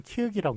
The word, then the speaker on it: 키읔: 자, 이거 키역일까요? 키윽일까요? 예, 다시 한 번 말씀드리지만 기역만 기역이고요. 이거는 키읔이라고 읽는다고 제가 말씀을 드렸습니다.